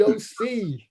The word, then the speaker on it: OC: All right, Reed, OC. Spelled like or pronounced like the county. OC, baby, Orange County.